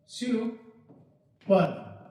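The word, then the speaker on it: super: इट्स सुपर, सुपर, देखिएगा इसका correct pronunciation सुपर। Okay, so the correct pronunciation is सुपर। क्या होगा? सुपर, पर्व माने त्योहार होता है, तो वही है सुपर।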